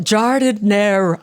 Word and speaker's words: giardiniera: I saw a video that you had about how to pronounce it correct. I love it. Giardiniera.